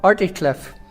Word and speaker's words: Articlave: I'm the Minister of First Dunboe, and I'm very pleased to welcome you to Articlave, or Articliff, as it was usually spelt in 1718 and is often still pronounced to this day.